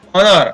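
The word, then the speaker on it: honour: Next है हो, ने, स और ट, ऑनेस्ट, यहाँ पर ह साइलेंट रहता है, ऑनेस्ट। इसी प्रकार ऑनर, ऑनर, यहाँ पर ओ न र, ऑनर।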